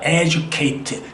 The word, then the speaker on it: educate: AT로 끝나는 말의 액센트 법칙은 그것으로부터 두 번째 모음에 항상 액센트가 있어요. 두 번째 모음에. 그래서 우리가 교육을 한다? 그러면 AT로 끝나니까 여기가 모음, 여기가 모음이니까 educate 이렇게 발음이 되는 거죠.